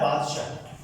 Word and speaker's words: बादशाह: कई बार बताया कि ये वाला सा और ये शाह, इनका उच्चारण अलग अलग होता है ना। ये सरोते वाला सा है, और ये शकर वाला शाह, है ना, शय्यम, शकर।